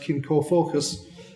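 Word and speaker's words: cin comfocuis: kin kish in in English in Irish it's pronounced kin ko focus and it essentially means um community or kin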